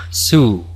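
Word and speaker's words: zoo: Zo en inglés, que no se pronuncia zo sino su.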